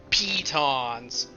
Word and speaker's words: pitons: if anyone has pitons it's climbing gear pitons because it's spelled with an i p-i-t-o-n-s there anything nearby that